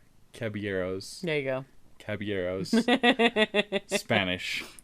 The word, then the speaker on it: Caballeros: okay well i have seen three cabbage three cabuleros caballeros there you go caballeros spanish you don't pronounce the owls nope okay okay well after